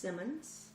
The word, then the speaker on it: Timmons: My maiden name is, and my last name is Timmons. That is like Simmons with a T.